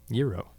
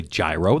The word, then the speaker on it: gyro: Euro. Right. You can't say gyro. That's No. just saying it wrong. It is. That's not saying with an accent. That's saying it incorrectly.